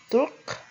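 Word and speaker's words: Turque: orang Turki untuk maskulang itu Turk dan feminangnya itu Turk bacanya sama tapi tulisannya berbeda nah eh Cukup sekian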